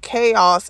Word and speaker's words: KOS: He says he was in an R&B group named KOS, stands for Kansas City Original Sounds, but pronounced Chaos, in the 1990s, which later became Talent.